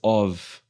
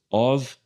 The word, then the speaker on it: of: na próxima frase também quando em inglês você vê of tá você não vai pronunciar esse f de uma forma muito explícita muito acentuada Então você vai suavizar essa pronúncia Sutilmente aqui você vai usar vai fazer um som de v Ok então vai ser of tá Sutilmente um som de v of Salomon Ok então these